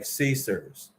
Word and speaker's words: CSRS: It's called the Civilian Service Retirement System, pronounced something like CSERS.